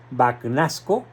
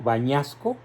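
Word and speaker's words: Bagnasco: escritos por este gran cardenal banasco O tal vez se pronuncia en italiano bañasco sí Y dice Espero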